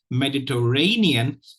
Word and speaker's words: Mediterranean: for you today and the primary stress is on the fourth syllable please follow the cursor the second is on the first syllable please practice such words